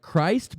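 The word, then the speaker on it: Krist: r i s t like Christ but they just pronounce it Chris yeah yeah it's it's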